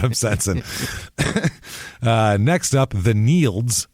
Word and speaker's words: Nields: Next up, the Nields, which is spelled like fields except with an N. It's Neil with a D. Yeah, Neil with a DS.